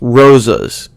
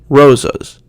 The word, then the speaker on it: rosas: Spanish it's Kuba Kuba in English unstressed vowels are normally pronounced uh with a sound kind of like uh for example the word Rosas is pronounced roses Rosas so if you have